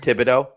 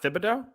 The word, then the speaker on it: Thibodeaux: i think every time can we just could we make a switch to just thibodeaux thibodeaux yeah tibeto let's do tibeto kayvon thibodeaux it's not fibido no i don't think it's